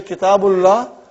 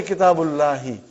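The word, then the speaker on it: كتاب الله: So, coming there, brother, I was just trying to explain you that when you say Kitabullah, you never say Kitabullahi. But it is Kitabullah.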